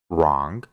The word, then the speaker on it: wrong: después tiene una r solo Vamos a pronunciar la r y no vamos a pronunciar la W por ejemplo write que significa escribir wrong que significa incorrecto Rest